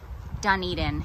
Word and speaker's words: Dunedin: this several times i probably would have called it dun dun dun dun welcome to dunedin that's what i yeah that's definitely how i would have pronounced it but i think it is dunedin and apparently they are